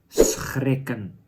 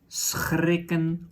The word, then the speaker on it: schrikken: That is schrikken. So you can pronounce it as schrikken or schrikken. Choose which one is more natural for you.